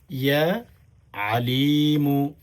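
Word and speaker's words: يا عليم: ইয়া আ আ বললে হবে না, আলিমু। গলার ভেতর থেকে একটু আইন উচ্চারণ করতে হবে। হামজা উচ্চারণ করলে তখন কিন্তু প্রিয় দ্বীনি ভাই বোন অন্য অর্থ দাঁড়িয়ে যাবে।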